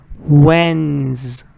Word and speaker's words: Wednesday: this is another word a lot of people mispronounce with three syllables changes to three syllables no it's two syllables Wednesday Wednesday and again stress is on the first part Wednesday Wednesday first